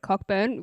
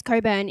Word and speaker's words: Cockburn: really angry that two girls called it cockburn which is how it's spelled yeah i would go to the comments well actually i wouldn't comment anyway i just scroll past but like if i wanted to comment i would go to the comments see that there are already seven people that have been like um it's coburn if you're going to say that at